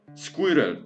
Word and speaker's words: squirrel: Pierwsze to jest kombinacja tych słów schwa i i l w jednym słowie, więc zamiast mówić coś prostego, na przykład dog, to wymawiamy kompletnie squirrel, squirrel, squirel. Tak jakby jest wysoki punkt, niski punkt, wysoki punkt, punkt, potem niski punkt.